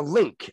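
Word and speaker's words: LINQ: And then the Link, L-I-N-Q, because that's how they spell it.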